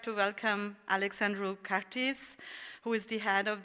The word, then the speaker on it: Alexandru Cartis: So for the next one, I really wanted to make an effort and pronounce the name correctly, but he said to me that even Romanians do not pronounce it correctly, so I pronounce it the English way.